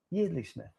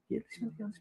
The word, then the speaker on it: Yeardley Smith: How do you pronounce that? Yeardley Smith. It's a year, isn't it? Yeardley Smith.